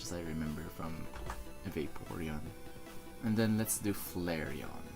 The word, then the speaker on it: Vaporeon: because of its name growing up pronounce the name Vittorio but now I heard other people say Vaporeon don't even remember Ashley calling it Vaporeon but yeah it makes sense cuz you know vapeur and now I can't